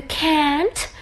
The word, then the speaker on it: can't: as I mentioned before in pronunciation for a can't we use AA long a you can't take photographs here okay